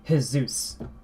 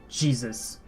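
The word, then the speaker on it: Jesús: In Spanish, the J is actually pronounced as an H. So, like, I think the easiest example is when you see in English we have Jesus, right? In Spanish, you'd say Jesus. Jesus, not Jesus.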